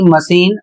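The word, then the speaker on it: machine: एम ए सी एच आई एन ई मशीन और इसका अर्थ होता है यंत्र। सभी अपवाद हैं।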